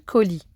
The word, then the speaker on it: colis: à l'infinitif l'envoi du colis attention colis est un mot qui prend qui s'écrit avec un s mu est donc à ne